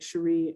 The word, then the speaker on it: Sherri: rhymes with capri because cherie rhymes with capri and on twitter it's more complicated it's like cherie underscore l underscore